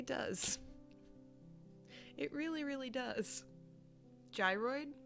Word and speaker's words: gyroid: Gyroid with a soft G.